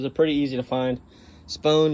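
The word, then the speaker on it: Spohn: pretty easy to find spoon is spelt s-p-o-h-n uh they had it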